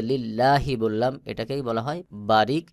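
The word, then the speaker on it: لله: আর এখানে দেখুন আল্লাহ শব্দের আগে লামে জের রয়েছে। তাহলে লি লাম লামের লিল্লাহি। এই লামকে পাতলা করে পড়তে হবে। যেমন লিল্লাহি। আমি যে লিল্লাহি বললাম এটাকেই বলা হয় বারিক বা পাতলা করে পড়া।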